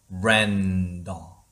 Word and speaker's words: veranda: veranda. Oh my god. 버렌다인데 버렌더? 버렌더인데 이거를 연결해서 읽으면 어떻게 발음이 나오는지 한번 들어보세요.